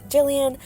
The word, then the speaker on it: Gillian: based name and uh I spell it g i l l i a n um because it has Gil in it um but obviously her name is Jillian um I also call